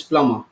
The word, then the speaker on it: plumber: call this person remember the word is Flum be' but the pronunciation is plumber well you know the B is silent okay so likewise things will